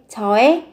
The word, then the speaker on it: 저의: Nhưng các bạn sẽ phát âm khi từ 의 này nó là sở hữu. Thì các bạn sẽ mang nghĩa phát âm là e. 저의 기쁨.